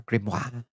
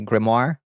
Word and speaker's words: grimoire: Like a fake French reading kind of with a quiet R. Grimoire. And Bonnie pronounces it is how I read it from the web tune. Please, please read me. Grimmoire.